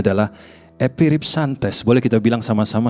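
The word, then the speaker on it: ἐπιρίψαντες: itu bacanya adalah epiripsantes.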